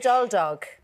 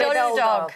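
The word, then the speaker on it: Rhydoldog: Now, I'm not even going to try and pronounce the original name of the house. Go on, you say it. Rydol Dog. Rydol Dog House. Rydol Dog.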